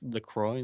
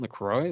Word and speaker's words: LaCroix: I think it's LaCroix, like the drink, I guess. Saint LaCroix. That's how you say it.